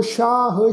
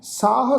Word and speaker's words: शाह: साध संगत ख्याल रखो इत्थे पाठ उच्चारण करांगे नमो शाह शाहंग, सस्से पैर बिंदी लगा के पाठ उच्चारण करांगे शाह, फिर शाहंग। इनू साह साहंग नहीं उच्चारण करना।